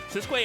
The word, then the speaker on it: Sisqui: Yeah, and excuse me, it's pronounced Sisqui.